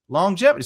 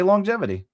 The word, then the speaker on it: longevity: the word uh longevity longevity has one g but you say the g twice you're only saying the a once here so that's good prana kasha longevity say longevity longevity how